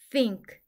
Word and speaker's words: think: hest honest 정직한이라는 뜻이에요 th n 이중 자음으로 영어 발음기 호의 번데기 소리인 쓰 소리가 나고 아는이 NK 이중 자음으로 은크 소리가나요 와 받침 이응은 같이 소리 나서 싱 크는 혼자 소리 나서 크 싱의 스 소리는 영어 발음기호 번들기 소리인 쓰 소리를 내 주세요 싱크 한 번에 읽으면 think